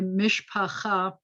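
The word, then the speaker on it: משפחה: common word in yiddish only hear it say mishpochah you say the whole mish-bokha came to the seder so you say mish pacha is the hebrew word for family and once we've gotten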